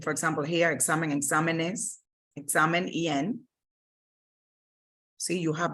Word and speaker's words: exámenes: You will need to add an accent, for example, here, examen, exámenes, examen, EN.